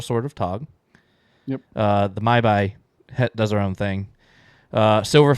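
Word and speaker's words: Mhybe: So I also put that Talk becomes the mortal sword of Tog, and the Maibai. Is that how you say it? The Maibai, yeah.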